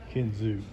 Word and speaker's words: Kinzua: i'm saying that in kinzua right hell i couldn't even say pennsylvania right let alone the name of the bridge but the proper pronunciation is kenzu she we got a